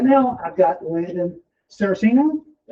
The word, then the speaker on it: Saraceno: Uh, right now I've got Landon Cerosino. Yes, sir. Is that it? Yep. Is that how you pronounce it?